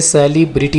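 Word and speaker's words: celebrity: शख्सियत को इंग्लिश में सेलेब्रिटी कहते हैं इस वर्ड को आपने सेलिब्रिटी नहीं बोलना सेलेब्रिटी ठीक है परेशान करना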